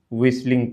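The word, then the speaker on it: whistling: विसलिंग पढ़ेंगे। ठीक है? चलो विसलिंग यहां टी साइलेंट रहेगा।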